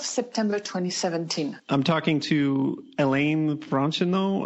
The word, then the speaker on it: Hélène Franchineau: I'm talking to Hélène Franchineau. I'm probably mispronouncing that. Is that, how do I say it? It would be Hélène Franchineau, but it's fine. Okay, well, I'm talking to Hélène Franchineau.